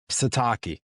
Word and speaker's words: Sitake: I'm not even going to try to pronounce his name. Taco. Sitake. Satake.